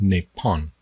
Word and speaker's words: Nepal: in Thailand it's pronounced nepon nepon I don't know why because there's no n at the end of it you know Neal with